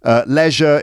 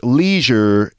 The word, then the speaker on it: leisure: accent that's good fun leisure in British English leisure in American English right Leisure like pleasure Leisure like seizure but we write Leisure